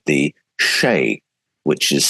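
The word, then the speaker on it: sídhe: They spoke about something called the Shay, which is spelt Seether, but it's pronounced Shay.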